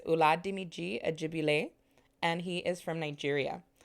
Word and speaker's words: Oladimeji Ajegbile: patient with me but i want to take the time to say it correctly here his name is ulat dimiji ajibi lay and he is from